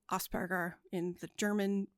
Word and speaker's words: Asperger: German he was venes I'm going to pronounce it in the German language because that's the language he spoke okay and that's how